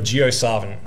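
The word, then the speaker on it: JioSaavn: But so who here has heard of Gio Savin? Okay, cool. Do you know if I pronounced it correctly?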